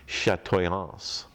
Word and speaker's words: chatoyance: the french have it the english pronunciation would be chatoyance i don't know if a lot of people don't know this word yeah if you're going to say it in french it's chatoyance and they use that